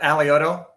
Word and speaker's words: Alioto: I butchered your name man you closeing enough alioto aloto I butchered myself too so it's okay well Dean